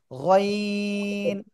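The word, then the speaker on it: غين: ওকে, তিন আলিফ টান হবে, গলা শেষ ভাগ থেকে উচ্চারণ হবে গইন।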